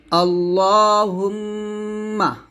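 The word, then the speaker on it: اللهم: আল্লাহুম্মা আল্লাহ মোটা হবে।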